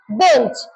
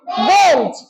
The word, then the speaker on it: বেঞ্চ: তাহলে আমরা যদি ইয়র বদলে দন্ত ন বলি, তাহলে তার উচ্চারণ নিয়ে কোনো ঝামেলা থাকবে না। আচ্ছা, এই যে দেখো, আমরা ইয়র বদলে বলবো দন্ত ন, তাহলে এইটার উচ্চারণ কি হবে? বেঞ্চ।